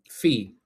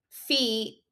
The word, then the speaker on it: Fils: Fee. Okay, great. Okay, but it's spelled Fils. Okay. So Fee, and first of all, I'm cheering for Fee.